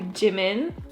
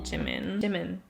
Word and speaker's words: Jimin: Heading over to double page model Jimin, not Jimin. I'm just gonna pronounce it in a very Korean way.